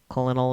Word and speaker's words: colonel: Colonel is pronounced colonel for your information.